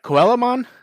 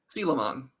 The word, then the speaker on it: Coelamon: For some reason, I always go with Coelamon because the spelling pops up in my head. Oh yeah, me too. Since Digimon World, I've just been pronouncing as Coelamon, but it is Sealamon.